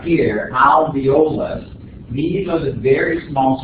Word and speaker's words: alveolus: Now notice it's spelled alveolus or alveolus, A-L-V-E-O-L-U-S. I don't know, for whatever reason, a lot of people tend to forget that first L. And they go alveolus instead of alveolus.